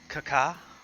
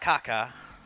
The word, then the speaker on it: kaka: The Nordic word for cake, where we got the word cake from, was kaka. Not kaka. They could say it like that, but not that.